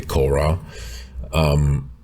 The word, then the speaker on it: Cora: That's why in Cora, pronounced French way, Cora, pretty much all the characters have their own perspective, and they either suspect one thing or know something.